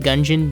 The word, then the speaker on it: Gungeon: of the dungeon also disclaimer I know it's pronounced gungeon but you could suck my dick each dungeon